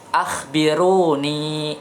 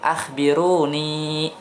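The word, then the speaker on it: أخبروني: ini pusat ulang lagi ah Biruni setelah Noni tua dayaknya panjangnya bacanya ah Biruni artinya kabarkanlah kepadaku yang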